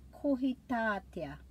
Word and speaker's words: Kohitātea: For January we have Kohitātea. Kohitātea, so I'm putting the emphasis on the syllable with the macron.